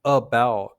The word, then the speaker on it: about: When we say about, we don't pronounce the a.